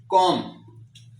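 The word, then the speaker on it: comb: कोम तो इसको हम कोम की बजाय कोम पढ़ते हैं। ये भी साइलेंट है।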